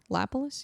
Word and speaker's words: Lapilus: It was a competitive fight, but Taylor, Lapilus? Yeah, that's how you pronounce it.